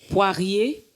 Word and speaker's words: Poirier: C'est le pasteur Stéphanie Poirier. Rider Poirier. Oui. Voilà. Oh, j'ai j'ai bien prononcé.